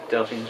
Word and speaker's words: Delphians: Is it Delphians, that's right. Yeah. Delphians, right?